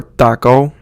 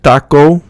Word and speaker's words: taco: ow sound fenale or taco taco taco it's like you're cutting it off so you don't use like taco in English where you get that W sound at the end you want to cut